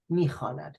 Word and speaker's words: میخواند: But still you write it, but you do not pronounce it. میخواند.